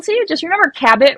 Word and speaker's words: Cabot: you just your remember cabit rhymes with habit like I've got a